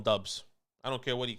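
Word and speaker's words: Doubs: ten i go quarterback he wants to pronounce his dobbs dobbs romeo dobes nah we call him dubs i don't care what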